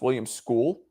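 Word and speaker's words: William Scull: Why they keep calling him Oh, it's pronounced William School.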